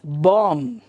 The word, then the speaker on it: bomb: So that is called as even ಕನ್ನಡದಲ್ಲಿ ಬರೆಯುವಾಗ ಅದು ಬಾಂಬ್ ಅಂತಾನೆ ಬರೀತಾರೆ, but in English it is bomb.